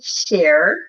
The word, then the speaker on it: Scher: Sharer. Am I pronouncing that correctly?